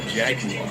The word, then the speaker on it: Jaguar: Unless you want to play Zool 2, then it's either this, the Amiga proper, the PC, or the Jaguar, or as the British say, Jaguar.